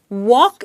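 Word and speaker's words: walk: आपको ध्यान देना है वॉक इस वर्ड में एल ये लेटर है लेकिन एल साइलेंट है इसका मतलब हम इसका उच्चारण नहीं करते वॉक का भूतकाल है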